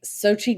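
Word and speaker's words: Xochitl: you say her name unlike it's spelled at all. Right. It's spelled with an X and a H and a T in it.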